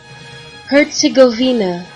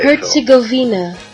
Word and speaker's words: Herzegovina: want to make sure you have the correct pronunciation we'll play it one more time for you here herzegovina okay herzegovina i tried to i tried to steer you